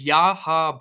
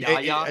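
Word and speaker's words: Yahya: It's Yaha Black. I understand. Every day he tells me I don't know how to pronounce the defensive tackle's name from Iowa because I said Yaya.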